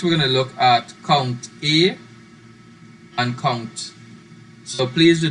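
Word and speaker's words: COUNTA: right so next we're going to look at count e and count so please do not pronounce this as kung ta it's count e so our next reader is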